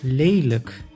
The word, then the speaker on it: lelijk: Exception, when a word ends on lijk, then it is pronounced as luk, like in lelijk, which means ugly.